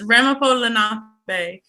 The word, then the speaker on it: Ramapo Lenape: Your pronunciation was not necessarily wrong, but it's Ramapo Lenape.